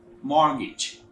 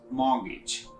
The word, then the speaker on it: mortgage: we pronounce it wrongly that is mortgage some ice a monkey's butt hero is very salmon so it sounds mortgage similarly plumber plumber when